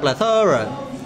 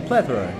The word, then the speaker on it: plethora: Bacanya bukan plethora, depan yang tinggi ya, plethora. Plethora pakai tha ya.